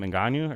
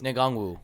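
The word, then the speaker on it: Nwangwu: to watch Kane, not how do you say his last name? Ngannou or no? That's Ngangwu. Yeah, it's hard to Ngangwu. say. It's like an NWG.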